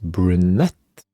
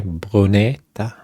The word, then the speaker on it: Brunete: Yeah, it's so um we are at Brunette, but probably not uh pronounced that way. Brunetta.